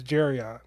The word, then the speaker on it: Jarion: without mispronounce it yeah my name is jarion nice there you go rhymes with Darion yeah sometimes I say